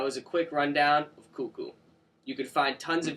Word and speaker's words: kuku: you go that was a quick rundown of cuckoo you can find tons of videos online of